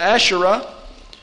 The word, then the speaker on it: Asherah: see it all through the old testament the asherah hebrew pronunciation would be ash a-s-h-e-r-a-h and ashtoret ash